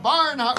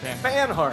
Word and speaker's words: Banhart: Devendra Barnhart. How do you say it now? Yeah, that's right. Banhart.